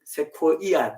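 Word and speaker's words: Sequoia: 제가 옛날에 그 세과 그 공원에 미국의 세코이아 공원인데 정확히 발음하면 그 엄청난 나무인데요.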